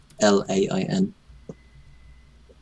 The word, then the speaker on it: Kaplan: Kaplan is Caplain.